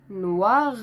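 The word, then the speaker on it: noir: ننطقه هقول اول معلومه ان الاو والاي بتتنطق وا فهقول ن وا نوا نوا نوا وممكن اقول نواغ نواغ نواغ نواغ يبقى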